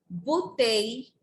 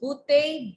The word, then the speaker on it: bouteille: Une bouteille d'eau. A bottle of water. Une bouteille d'eau. Ma'am, Yes, you Parth? bottle do. Bouteille. Oh, Double L is silent.